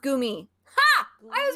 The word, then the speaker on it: Goomy: just hear people be like why it is pronounced goomy ha i was right oh he made the